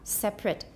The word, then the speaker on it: separate: issue she wants to separate two syllables with a schwa separate not three separate and eighty is